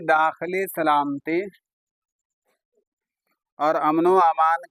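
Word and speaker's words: अमन-ओ-अमान: देखो उर्दू में कैसे लिखा हुआ, अमन व आमान, उच्चारण कर लेना मिला करके, अमनो अमान तलफ्फुज कर लेना, अमनो अमान।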